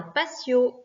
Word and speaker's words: patio: Attention, en français, on dit un patio. En espagnol, on dit un patio. D'accord? Le T se prononce T. Donc attention parce que nous, on a déformé. En français, on dit patio. En espagnol, ça n'existe pas ce mot-là. Donc c'est patio.